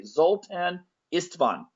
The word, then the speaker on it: Zoltan Istvan: is going to be uh I'm hoping I'm pronouncing this correctly zultan istvan yes yes thank you that that sounds great